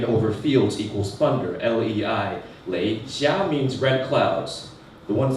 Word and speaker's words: Lei Xia: My mother's name is difficult to pronounce. It is Lei Xia, last name Lei, L-E-I, first name Xia, X-I-A.